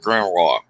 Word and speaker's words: grimoire: dealing with yeah, Grem raw RAH. nah, I ain't gonna say nah. No, it's Grimoire. Yeah, yeah.